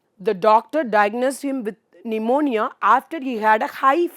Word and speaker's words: pneumonia: Pneumonia. இங்கே வந்து P வந்து silent.